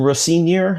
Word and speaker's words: Rosenior: It would have been um you know we got it was the first game with uh Liam Rosenior I think is how they pronounced it.